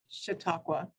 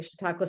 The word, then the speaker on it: Chautauqua: you say this School of Arts name Hannah Chautauqua okay thank you Chautauqua School of Art her current Studio practice emphasizes